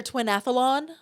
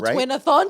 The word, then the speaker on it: Twinathon: I can't say it. Twinathon. Oh twinathon. Twinathlon. No, every time I was trying to pronounce it, I was like, I'm just pretty not smart. It was like a tongue twister, but it's twinathon, right?